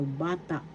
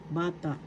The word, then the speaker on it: bata: ba second syllable ta the accent is in the first syllable bata bata child in English next